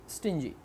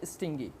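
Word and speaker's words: stingy: तो कंजूस के लिए एक हम वर्ड इस्तेमाल करते हैं स्टिंजी या स्टिंगी। इसके दो वेरिएंट है प्रोनाउंसिएशन के, आप कोई भी इस्तेमाल कर सकते हैं। वैसे स्टिंगी ज़्यादा इसका पॉपुलर वेरिएंट है।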